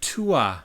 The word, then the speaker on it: Túath: It looks like Túath, Tuath, but it's pronounced Túath.